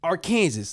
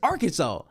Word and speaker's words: Arkansas: them little Arkansas and they proceeded to say our Kansas. I'm like, where are you getting our Kansas from? They was like, well, because it's spelled like Kansas. What are you talking about? It's Arkansas. And it's literally Arkansas. My whole life it's Arkansas. The Arkansas Razerbacks. Arkansas razor bags. They don't say Kansas razor bag.